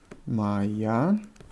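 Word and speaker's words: моя: Maya ad on Maya Maya sestra yes the round can you hear how I pronounce Maya Maya all sounds like a in female mind so Adam is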